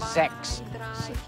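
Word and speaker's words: sechs: no just say that in german we have to pronounce the number six is sex okay so don't be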